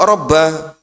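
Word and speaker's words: رَبَّ: Ini kok rabba karena statusnya munada mudhaof. Munada mudhaof itu ee panggilan yang disandarkan dengan kata setelahnya itu dalam bahasa Arab dia dibaca dia dibaca ee mansub.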